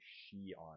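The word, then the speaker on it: Shion: Emblem Warriors I think his name is supposed to be she on it's spelled s h i o project that um as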